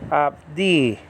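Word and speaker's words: עבדי: the second syllable, and the emphasis is on the second syllable, and then that's a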